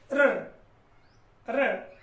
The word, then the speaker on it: ऋ: तो यहां पर देखिएगा, इसकी बात करें इस वर्ण की, तो इसका उच्चारण होगा र, र।